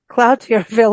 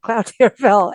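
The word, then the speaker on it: Cloutierville: it correctly so um Cloud TI Ville is not cloudville everyone no but it is cluch cluch okay yes thank you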